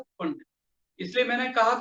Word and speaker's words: Pfund: कौन सी मिलती है, फंड, PFUND, पी साइलेंट रहता है, फंड, याद रहेगा।